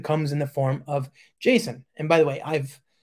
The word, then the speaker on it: JSON: I'm honest with you as a person who also speak French I I quite like the French version she's home right Jason it's much more elegant I think we should all be pronouncing it like that okay so motion to